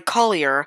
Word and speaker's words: collier: engines were used on a collier or coolier that's how i mainly pronounce it called the ms madalazu